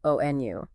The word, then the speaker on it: ONU: If an acronym is pronounceable, like ONU for Organización de las Naciones Unidas. The UN. Right. It's often read just like a word ONU.